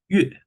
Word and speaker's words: 月: But in Chinese language, it's pronounced like 月, also falling to 月.